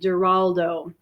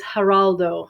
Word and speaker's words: Geraldo: Q reader so now she pronounced his name with a g' Geraldo that's the English pronunciation the Spanish is Geraldo Geraldo so number 1